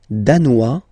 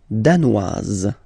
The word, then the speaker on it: danois: Le Danemark, danois, danoise. Okay, insist on that. Danois, don't pronounce the final S. Danoise, here you pronounce it.